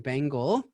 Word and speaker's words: Bengel: my name is bengle and by the way Chuck thank you for pronouncing my name so well a lot of people mispronounce it I've been nicknamed The Bagel but I digress uh